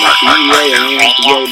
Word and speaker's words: Beaman: pronounced Beaman? Yes, it is. Beaman. B-E-A-M-A-N, man, but Beaman.